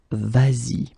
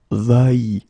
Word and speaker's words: vas-y: normally va like that, you will have to modify it and put this S here, just to get the sound vas-y instead of vai, okay?